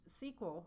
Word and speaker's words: SQL: IBM Silicon Valley lab SQL sometimes pronounced sequel refers to the structured